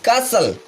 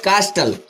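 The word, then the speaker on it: castle: Fourth one इज कासल, नॉट कास्टल, कासल।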